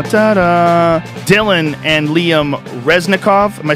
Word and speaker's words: Resnekov: Dylan and Liam Resnekov.